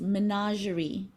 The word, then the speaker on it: menagerie: The pronunciation for that word is menagerie. Menagerie.